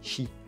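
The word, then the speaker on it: Qi: monde par induction avec la technologie chi qui s'écrit cuite et enfin les manuels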